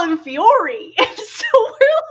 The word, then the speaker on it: Fiore: at the front, and they kept pronouncing the antagonist's name as Fiole. And me and my sister are like, is that how they're going to pronounce it in the new dub? Because his name is Fiore.